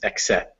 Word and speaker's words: accept: And the same for the first E in accept. Well, that's a little more stress. It's accept, but it's still very small.